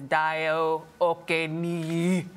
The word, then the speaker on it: Dayo Okeniyi: Now, here to discuss his role in the new blockbuster film Terminator Genesis is Dayo Okeniyi.